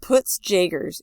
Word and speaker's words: Peutz-Jeghers: Peutz-Jeghers, pronounced poots jagers, is a hereditary disorder that causes polyps in the stomach and intestine.